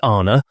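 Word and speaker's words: Ana: The word Anna pronounced broadly Anna corresponds with our plural men.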